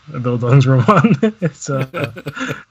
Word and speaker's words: Bildungsroman: Also, I did look up the pronunciation as well. Like, it's close enough. Bildungsroman. It's not quite there. You know, it's probably the best you can get while using, like, you know, English sounds.